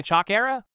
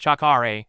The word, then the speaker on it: chakra: sure you unlock my chalk era I don't quite feel it isuka nodded frowning first it's pronounced chakare and second I was